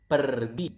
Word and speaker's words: pergi: So you can see we pronounce the R quite clearly. So it is kind of like Spanish. You speak Spanish, I think you will not pronounce the R quite near to this language.